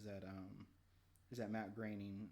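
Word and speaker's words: Groening: um is that Matt graining or groaning however you pronounce it I've heard it's graining gra okay Matt graining is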